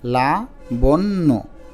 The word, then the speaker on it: লাবণ্য: হয়েছে এ শব্দটা লাবণ্য লাবণ্য একটু আলতো করে উচ্চারণ করো আস্তে আস্তে লাবণ্য তাহলে লিখো ল আকারে